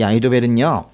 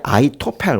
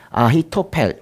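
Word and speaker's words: אחיתופל: 이 아히도벨은요, 이게 아히토펠 원래 이렇게 그렇게 읽는데 이거는 이제 이런 걸 합친 거거든요. 아흐라고 발음하는 히브리어 단어가 있고 타펠이라는 단어가 합쳐진 거예요. 근데 이게 이제 발음이 좀 바뀌어서 아히토펠 원래 이렇게 읽는데요.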